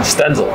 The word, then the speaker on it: Stenzel: how do you say your last name stenzel Sten kle Sten you got it Mitchell blide bleed bleed yeah it's spelled like blide so I get that a